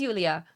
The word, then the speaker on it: Yulia: That is how you pronounce it as well, Soft J not. Okay, perfect. So it is Yulia.